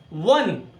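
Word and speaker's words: one: यहां देखिए वन eyed man, हालांकि स्पेलिंग वोवेल से स्टार्ट हो रही है, लेकिन मेरा प्रोनाउंसिएशन देखिए क्या आ रहा है, वन, व से शुरू हुआ, साथ में बोलते जाइए तभी आप लोग समझ सकेंगे।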